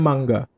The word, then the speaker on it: manga: Kan itu tulisannya kan ma en ga. Tapi bahasanya mangga.